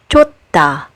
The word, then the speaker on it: 좋다: And finally, the last letter that is pronounced also as t as a final consonant is this one, like in the word 좋다, which means to be good.